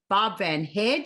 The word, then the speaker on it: Barb Van Hare: i'm so excited to be sitting here with bob van haare did i pronounce it right yes you did yes we're